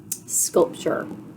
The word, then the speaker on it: sculpture: Chur is T-U-R-E. Remember, oftentimes when we see that T next to the U-R-E, the T makes that ch sound, and it goes chur.